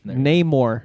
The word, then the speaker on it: Namor: is it not more No Name more that's how you say it name more oh okay soccer